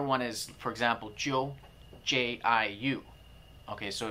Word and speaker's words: jiu: The other one is, for example, Jiu, J-I-U. Okay, so it's actually an abbreviation of J-I-O-U. So the middle letter drops out, and so it's pronounced Yo, so Jiu.